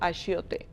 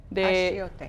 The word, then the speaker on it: achiote: This paste is called achiote. Achiote.